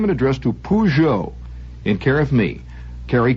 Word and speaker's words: Peugeot: name and address to Peugeot in care of me Carrie Grant Peugeot w uor New York New York and you can spell it P double o j o e pujo after you get your